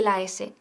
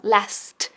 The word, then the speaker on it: last: Ahora, cuidado con la pronunciación de last, que no digas las, sino last, con la T bien marcada.